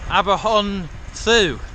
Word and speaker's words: Aberhonddu: Alright, this is Brecon, spelt Aberhonddu in Welsh, which I think is Aberhonddu, isn't it? Because DD is TH, right?